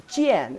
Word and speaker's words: 见: That's the first layer mean of this character pronounced as jian.